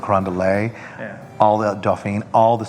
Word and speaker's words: Carondelet: well we're going to mispronounce everything is you know Charters Carondelet you know instead of Carondelet all the Doffing all